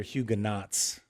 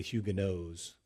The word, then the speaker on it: Huguenots: if you want to know, you'll often hear Huguenots. And we don't want to be cruel, but the proper pronunciation is the Huguenots.